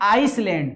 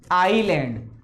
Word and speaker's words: island: इसको कुछ बच्चे बोलते हैं आइसलैंड, गलत है, ये होता है आइलैंड।